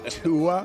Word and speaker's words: Tua: need his quarterback is not named Tua yeah rhymes with NAA yeah what are you